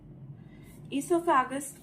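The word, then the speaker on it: oesophagus: क्या बोलते हैं सोफैक इसोफागस ओ से स्टार्ट होता है ओ साइलेंट है यहां पे तो इसोफागस जो है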